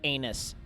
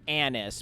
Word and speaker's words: anise: is very good even though it tastes like anus I mean anise you mean the stuff that they used to make black licorice yes anus yes it is pronounced anise but I like calling it anus cuz that's